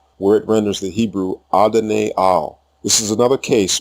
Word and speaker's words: Adonai: The same expression appears in the LXX translation of Psalm 86:15, where it renders the Hebrew Adonai Al.